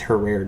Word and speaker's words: Herrera: It's her rare to pronounce it right.